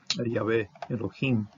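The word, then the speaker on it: יהוה אלהים: And this is, for me, it's a valid way of pronouncing it, Yahweh Elohim.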